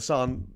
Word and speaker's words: San: the son of batwan Sam but it's pronounced son apparently to hard a uh